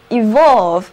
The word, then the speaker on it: evolve: 单词 evolve， EVOLVE，这里的字母 E 要读作短的 E，而字母 O 要读作 O。字母 E 表示向前，而